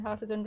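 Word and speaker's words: حاسد: Hasidin is the one, of course, you might have gathered that this hasidin is actually the jar form of hasidun, and hasidun rhymes with fa'ilun, so someone who envies is hasidun.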